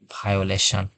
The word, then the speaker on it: violation: এটির উচ্চারণ হবে বায়োগ্রাফি, সরি বায়োগ্রাফি। এরপরে আমরা আরেকটি উদাহরণ দেখতে পারি, যেমন হচ্ছে ভায়োলেশন, VIOLATION, ভায়োলেশন।